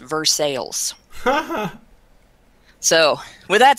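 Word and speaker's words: Versailles: correct pronunciation of that here it's pronounced versales so with that said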